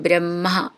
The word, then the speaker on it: ബ്രഹ്മ: നിറയെ പഠിച്ചതാണ് എങ്കിലും പറയുകയാണ് മ ഹ എന്നാണ് അതിന്റെ ഉച്ചാരണം വരുക ഹ രണ്ടും പാതി പാതി ആയിട്ട് പറയണം ബ്രഹ്മ അങ്ങനെ കുറച്ച് പ്രാക്ടീസ് ചെയ്താൽ